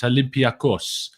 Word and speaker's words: Olympiacos: I mean, I was on with Sophie the other day and she said that I've got to work on the pronunciation because it's Olympiacos. Is how we're going with it. Apparently, I'm told.